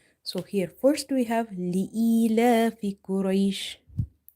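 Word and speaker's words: لإيلاف: Lam kasrah hamzah ya kasrah ee, li'ee. If you see if you see there is the same pattern which we have observed here. Ya itself is sakinah. And before ya sakin, you have kasrah. It means that this ya is maddah here.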